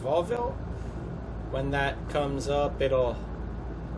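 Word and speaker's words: Vauville: And you'll see right away here, I believe it's pronounced Volville.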